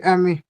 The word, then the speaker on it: aime: अगर मैं ऐसे Il लिख देता aime. इसको, il, इसको कैसे पढ़ता मैं? Il aime. Sí. एम, यस, Aime. Ammo नहीं बोलना है, तो यहाँ पे भी